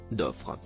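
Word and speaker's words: ظفر: et ce sont judaïsés le mot en surbrillance bleu se prononce d’offre ce qui a été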